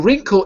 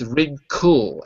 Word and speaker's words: wrinkle: In wrinkle, it's a different reason. In wrinkle, it allows us to pronounce the L fully. Because if you notice, it's wrinkle, as if it's spelled K-E-L. Wrinkle. I should say it like that.